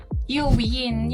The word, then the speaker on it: Uiene: Pero pag pronounce mo siya win. Yung parang pag nanalo ka sa ano sa Street Fighter versus Marvel.